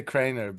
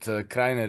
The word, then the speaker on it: Krainer: So Krainer, do I pronounce it with the German pronunciation, Krainer, or do you have a different pronunciation you prefer? It many people the Anglophones say Krainer, but Krainer is correct.